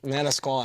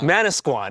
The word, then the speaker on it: Manasquan: The What's what what is uh Manasquan. Manasquan. That's how you pronounce it.